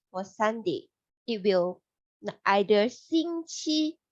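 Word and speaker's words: 星期: In Chinese, we say 星期. So it sounds like singing, sing, for the cheese, 气, 星期.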